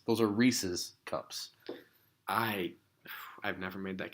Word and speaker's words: Reese's: Some people say Reese's, which is just completely idiotic. There's an apostrophe S. There's a guy named Reese, and the candy is his. Those are Reese's cups.